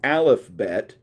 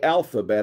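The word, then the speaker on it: alephbet: letter of the Hebrew alfet and I know I know I did not mispronounce it I didn't say alphabet I know I said alfet because that's what you call the Hebrew alphbet Okay so the first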